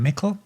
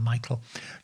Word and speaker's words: Meikle: thank you to william mikel now about finding him his surname is actually spelled m-e-i-k-l-e but pronounced mikkel and you can find